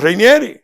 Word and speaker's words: Rainieri: Fran Rainieri. Fran Reinieri. Yo lo digo Fran porque sí, pero es bueno que se pronuncia el apellido porque ahorita dice que Fran por ahí.